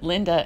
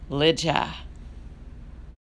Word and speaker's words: Lidja: wanted to correct that I said Linda instead of Lydia the correct pronunciation as far as I know is Lydia hey I forgot to